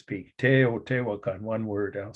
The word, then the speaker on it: Teotihuacan: Teotihuacan. I think I pronounced it pretty accurately in Espanol, of course, but the word it predates Spanish.